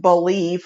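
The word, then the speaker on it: Bleav: believe b-l-e-a-v but it's pronounced believe like you believe and i believe and we believe so god bless them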